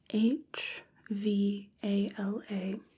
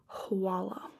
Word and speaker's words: hvala: It's spelled h v a l a and if you hear it said sometimes you'll hear hvala and sometimes you'll hear hwala.